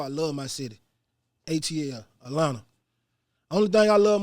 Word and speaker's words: Atlanta: down here too like it's not atlanta okay it's atlanta i'm taking the cheese out and no teas in it so listen if you wanna know how to say it how we say it just take all the teas out atlanta you know what i'm